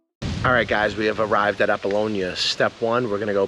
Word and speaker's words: Apollonia: heading over to fear we're going there because appalon did I say right Apollonia yeah we're going there if it's good we'll